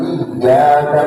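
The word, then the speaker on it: إِيَّاكَ: Ya, seperti misalnya dia bacanya bukan iyyaka na'budu wa iyyaka nasta'in, tapi si imam itu ya na'budu wa iyyaka nasta'in, dia pakai tasdid, dia meninggalkan tasdid saja misalnya.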